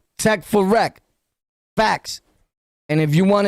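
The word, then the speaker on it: Tek4Rek: It's spelled T-E-K, the number 4, R-E-K. Tech for Rec.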